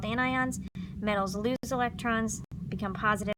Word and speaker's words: anion: You remember negative ions are called anions, right? Anion, not anions, like you sometimes think they're pronounced, or if I were here, I would make fun of you, but I'm not here, so remember it's anions, all right?